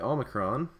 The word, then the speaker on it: omicron: And then the omicron is, it's not quite a long O like an O, but it's also not an A because that would sound too much like alpha, so it's somewhere in between, and the word porridge kind of gets at that in between, the O, porridge.